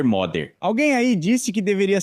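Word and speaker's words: Magyar: Esse modder já foi, aliás, especialistas em húngaro me disseram que no húngaro toda a ênfase está na primeira sílaba, então o correto é dizer modder.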